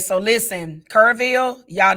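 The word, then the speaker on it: Kerrville: Is it Carville or Kurville? Kurville.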